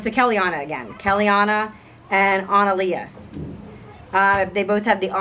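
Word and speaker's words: Annalea: I didn't want to be associated with that, but I would have pronounced it probably Analia.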